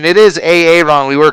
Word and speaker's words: Aaron: His name pronunciation, it is Aaron.